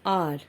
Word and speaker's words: hour: I played for an hour. Here the word R is starting with the consonant H, and here H is silent, and it seems that the word is starting with the vowel O.